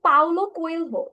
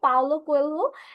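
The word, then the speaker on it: Paulo Coelho: বাট হচ্ছে গিয়ে স্যার, রাইটারের নাম হচ্ছে স্যার পাউলো কোয়েলহো। ওকে, সো আমরা হচ্ছে কি এটা উচ্চারণ হবে পাওলো কোয়েলহো।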